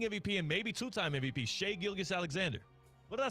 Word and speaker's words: Gilgeous-Alexander: Shai Gilgeous-Alexander? Wait, Shai Gilgeous-Alexander, excuse me. said it wrong. MVP or excuse me, not the reigning MVP. Yeah, the reigning MVP and maybe two-time MVP, Shai Gilgeous-Alexander.